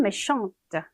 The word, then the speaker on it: méchante: 근데 마지막에 을을 붙이면서 여성형으로 바꾸면 méchante, méchante 이렇게 발음이 되죠.